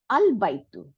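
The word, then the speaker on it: البيت: তারপরে বা জবর ইয়া সুকুন তা পেশ, আল বাইতু। এখানে আমরা আলিফটাকে উচ্চারণ করছি, কারণ এটার আগে প্রিসিডেড বাই নাই কোনো অক্ষর, এর সামনে কোনো অক্ষর নাই, আমাকে এখন উচ্চারণ করতে হবে।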